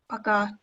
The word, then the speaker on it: Пока: Пока. You pronounce it.